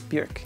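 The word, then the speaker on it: Björk: neil gaiman musicians like bjork bjerk it rhymes with jerk moses sumnee arca radiohead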